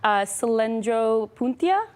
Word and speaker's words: Cylindropuntia: Let me make sure I pronounce this right. Cylindropuntia.